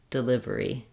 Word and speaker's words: delivery: on the live um this first syllable is short and unstressed and the way to to correctly produce that is start with the stress syllable Livery delivery delivery you can almost think of it as like not being there at all delivery because it's a very reduced vowel so it could be an uh or an doesn't matter